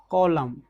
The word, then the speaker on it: column: जब हम कॉलम पढ़ते हैं तो हम एन का यूज नहीं कर रहे हैं, तो इस वर्ड में हम एन क्या रख रहे हैं, साइलेंट है।